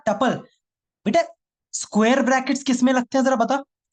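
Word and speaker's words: tuple: चिल्ला चिल्ला के बोला था ट्यूपल, टुप्पिल, टुपाल, टुपोल, कुछ नहीं, सिर्फ टपल। यही प्रोनाउंसिएशन है।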